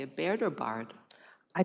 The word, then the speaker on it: Baird: Baird, how do you say it, Baird or Bard? I call it Baird.